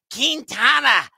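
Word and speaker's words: Quintana: got a decent history against Jose kintana that's the way you got to pronounce it appropriately from what I've been told of the New York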